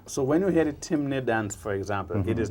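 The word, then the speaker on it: Temne: I was out there, and I lived among the people that known as Timne. Timne. Timne, T-E-M-N-E. T-E-M-N-E. In Carriacou, they pronounce it Temene.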